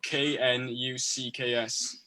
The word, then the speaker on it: Knucks: I like Nux. Has anyone listened to Nux? Nah, man. No. How do you spell that? I'll check it out. So KNUCKS. Say that again. So it's like Knuckles, like K.